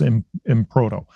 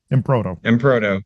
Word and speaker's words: Emproto: see how well all of you know Chris impro I I'm sorry I keep trying to say